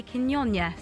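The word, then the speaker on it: Quiñones: Goal scored by Quinones. I've told that's a correct pronunciation.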